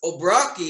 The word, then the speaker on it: O'Brocki: So please welcome Obrocki, if I pronounced that correctly.